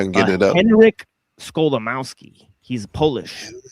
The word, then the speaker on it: Skolimowski: Henryk Skolimowski. He's Polish. Right? Okay, Henryk. Yeah, and it basically sounds exactly as it's spelled, SKO, right? And then Limowski, Limowski, right? So like Skolimowski, right?